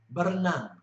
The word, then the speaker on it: berenang: The most common way of pronouncing an R is R, R, R. An example of this would be berenang, berenang, meaning to swim.